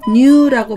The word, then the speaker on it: 乳: 의심할 의의에 대하여 공부했습니다 첫 u는 뉴라고 발음이났습니다 그래서 유제품을 뉴세희 뉴세희라고